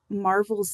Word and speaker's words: Marvel: How did you pick Marvel's name? Because not Oh, only, as we were talking, it's pronounced like the Marvel comic books, but it yeah. also, if it's spelt LE, when you marvel at something, it you're wondering about it.